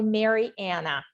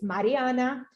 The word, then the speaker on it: Mariana: One of my colleagues never learned how to pronounce my name. She still called me Mary Anna. And even though I had to say it's Mariana, it is like a double D.